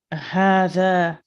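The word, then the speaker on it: هذا: So note number 1, hadha is pronounced hadha, but it is written without the first alif.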